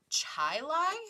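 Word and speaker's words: Chili: the Rochester suburb of Chai Lai it's spelled Chile c-h-i-l-i which was also a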